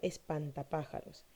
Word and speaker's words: espantapájaros: la sílaba tónica impact al formar al juntarse estas palabras obtenemos la palabra espantapájaros y como lo llamen como lo había mencionado anteriormente tenemos que la palabra pájaros mantienen la sílaba tónica de tal manera que conserva también latín de espantapájaros esta palabra se tendería porque sería una palabra esdrújula qué pasa con la palabra